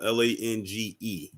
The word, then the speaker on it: Lange: And you said her last name was Lang? Yeah, her name is Rachel Lang. Her last name is spelled Lange. Oh, Lange. Okay.